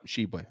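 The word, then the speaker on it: Tshiebwe: I was like, isn't it Tishi? No, Shibwe. Okay. All right. Yeah, I was saying Shibwe yesterday. Yeah, it's Shibwe. Apparently is.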